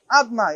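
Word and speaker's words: אדני: How do we pronounce it? Adnai, Aleph Dalet Nun Yud.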